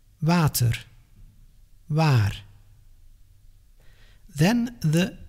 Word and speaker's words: water: As if you want to pronounce the English W, but then without moving your lips, just like a ventriloquist. W, w, water, waar.